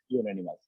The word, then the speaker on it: unanimous: নাকি এন, ইউনানিমাস, UNANIMOUS, ইউনানিমাস। উত্তর হবে এ হবে। কেন এ হবে? কারণ বর্ণটা কনসোনেন্ট কিন্তু সাউন্ডটা হলো ভাওয়েল, ইউ, সরি, বর্ণটা হলো ভাওয়েল কিন্তু সাউন্ডটা হলো কনসোনেন্ট, ইউনানিমাস, ইউর উচ্চারণ ইউর মতো হইবে।